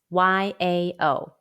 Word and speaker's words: yao: an initial or consonant it is spelled as y-a-o and pronounced yao pronunciation exercise for yao sound let's